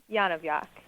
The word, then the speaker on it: Yonavjak: Would you pronounce it for us, please? Yonavjak. Of course. Yonavjak.